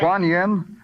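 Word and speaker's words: Kuany: Here, I I'll spell it to you. K U A N Y. Guan Yen.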